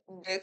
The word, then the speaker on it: deque: Dalam the queue diucapkan sebagai deck atau sebuah antrian berujung ganda adalah struktur data seperti antrian yang mendukung penyisipan dan penghapusan di bagian depan dan belakang antrian.